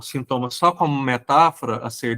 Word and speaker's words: sinthoma: A gente fala sintoma com H porque a pronúncia é a mesma, né?